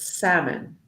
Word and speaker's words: salmon: We don't pronounce the L. So it's not salmon, it's salmon.